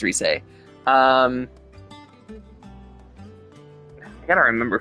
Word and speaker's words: Rise: It's spelled Rise, but I think it's Reese.